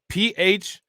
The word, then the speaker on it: Phuket: Is this Phuket or fuck it? Thailand? Is that Thailand? Is that how you pronounce it? Is that PHUKET? Is that pronounced fuck it?